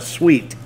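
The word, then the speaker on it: suite: thing what you know it's spelled su ite really north we call that a sweet nothin SW eet get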